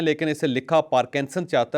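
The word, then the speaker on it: Parkinson: में लेकिन इसे लिखा पार्किंसन चाहता है और बहुत सारे लोग इसको पार्किंसन भी कहते हैं मैं खुद पार्किंसन कहता हूं अक्सर लेकिन ये बीमारी असल में पर्किंसन है आर इसके अंदर साइलेंट है अब सवाल यह है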